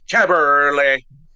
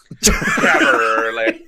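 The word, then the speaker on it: Kaberle: And I know how to pronounce his name properly. Caberlet. Caberlet. Of all the what is he, a Czech? Yeah. I believe so. Caberlet.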